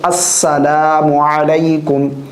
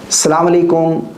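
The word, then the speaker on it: السلام عليكم: अस्सलाम अलकुम सलाम वालेकुम।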